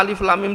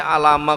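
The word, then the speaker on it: الم: Lah alif lam mim diwaose alama kok cah SMA itu loh Pak.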